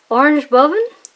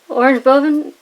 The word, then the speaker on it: Oranje Boven: I don't know how to pronounce this, but Oranje Boven? Oranje Boven? It's orange, like in English, but with a J instead of a G, and Boven, like bee oven.